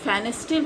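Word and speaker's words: Pfannenstiel: एक फेनेस्टिल होता है प्यूबिक सिम्फेसिस से, यहाँ जैसे प्यूबिक सिम्फेसिस से 5 सेंटीमीटर एवं अगर इंसिजन दिया जाता है transversely, that is called फेनेस्टिल, P silent है, मैंने फेनेस्टिल इंसिजन।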